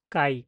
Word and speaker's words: chi: তো আমি যদি এটা বলি, তো এটার উচ্চারণ বাংলাতে আমরা এইভাবে বলি যে কাই।